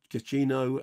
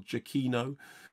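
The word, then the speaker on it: Giacchino: of those things that michael i always pronounced his name wrong and actually if you look at michael jacquino's twitter account it actually says this is how it's pronounced um very good by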